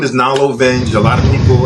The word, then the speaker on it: Knalo: or 4 times because it's spelled with a K. Right. It starts with a K, and I go Nalo, so they immediately write an N, and I'm like, no, it's like knowledge.